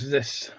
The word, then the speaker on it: ZIS: It's pronounced ziss.